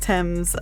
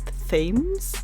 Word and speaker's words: Thames: Anyways, yeah, it's on the River Thames, spelled T-A-M-E-S, but pronounced Thames. I know a lot of English doesn't make sense, and I've heard a lot of my US friends say it wrong, saying like Thames and things like that.